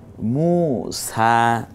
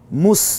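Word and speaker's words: موسى: করুন, এটা কোরআনের আয়াত, ই সা মু সা, হ্যাঁ মুস বলবো না, মু সা, এই জবরটা সহ একালিপ টেনে বলবো।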